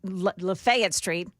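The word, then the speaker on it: Lafayette Street: It's downtown this morning on Fifth Avenue South and uh Lefayet Street. That's how you say it around here, right?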